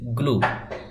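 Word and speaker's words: glue: জি এল ইউ ই গ্লু এটার উচ্চারণ গ্লু হয় আবার এটার উচ্চারণও গ্লু হয়।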